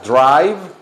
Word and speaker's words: drive: miren así se pronuncia la palabra manejar Drive vean así se pronuncia drive y luego una F al final bien marcada la f perrito Thank you Thank